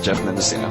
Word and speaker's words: Geoff Mendocino: be with Game Life, Geoff Mendocino. Hey guys! I pronounced that right? Yeah, that's right, Geoff Mendocino.